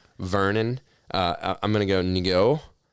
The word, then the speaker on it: Ngo: I'm going to go Ngo. It's NGO. Can you... I want to say it's just no.